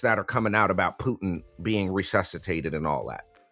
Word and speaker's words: Putin: couple of days ago see you're saying Putin and that is spelled p o o t i n you cannot do that that is that is not what his name is Vladimir Putin no it's Putin you got to say it Vladimir vadir Putin